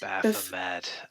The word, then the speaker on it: Baphomet: Is it Baphomet? Baphomet. I love Baphomet.